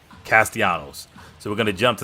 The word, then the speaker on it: Castellanos: run of the Season I'm sorry I can't I just butchered the dude last name okay wait a minute all right I just got word from our production crew it's castianos my bad Castellanos so we're gonna jump